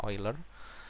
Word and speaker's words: Euler: oiler matematikawan terkenal ya eiler tulisannya euler Tapi bacanya oiler dia menyederhanakan masalah jembatan